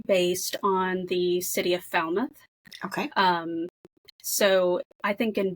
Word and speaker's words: Falmouth: Yeah, originally I had actually set the book in Falmouth, but figured out too many people don't know how to say it. And they thought I was trying to make a joke that it's pronounced Foulmouth.